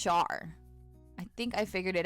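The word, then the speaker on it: Schar: I think it's Char. I think I figured it out. I think it's Char, not Scar.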